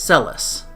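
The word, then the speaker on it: Celes: The Japanese name is actually Ceres, like C-E-R-E-S. But because in Japanese there's no difference between R and L, they made it an L instead of an R. So I'm going to pronounce her name as Celis, because I feel like Celis is the closest to Ceres, but still preserving the L.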